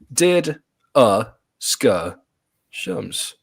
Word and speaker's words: DDiscussioMs: Here's the pronunciation. Did ska shums.